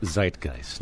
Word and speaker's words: Zeitgeist: It's not pronounced zitgeist. What's the correct pronunciation? Uh, zeitgeist. Zeitgeist. Because it's a German word.